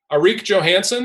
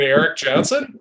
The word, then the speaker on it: Eric Johnson: conference i believe it's mr eric johnson enrique johansson is arik johansen hurry and i said uh you mean eric johnson and he said mr